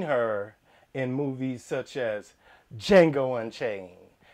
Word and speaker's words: Django: in movies such as django unchained the d is silent oh get him uh